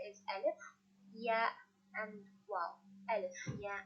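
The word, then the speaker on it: ألف: So first one, and letter alif. Alif, the pronunciation of alif is a. It's same like fatha.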